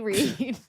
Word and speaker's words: Reid: No, it's Read. So hopefully it's not Nikki Red, but it's Nikki Reid.